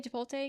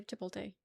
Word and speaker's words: Chipotle: How do you say Chipotle again?